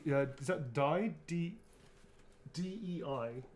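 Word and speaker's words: Dei: -E-I. Is that Die or? How do you pronounce that? It's not -E-I. It is, isn't it? Deus. Yeah.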